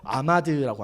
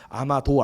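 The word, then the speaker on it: עמד: 이 서실 것이요의 히브리어는요, 아마드라고 합니다. 오늘 이 본문에서 가장 중요한 단어입니다. 아마드. 아마도 아니고 아마드입니다.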